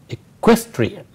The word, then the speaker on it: equestrian: So it's an adjective, as you say, and the stress is on equestrian, right?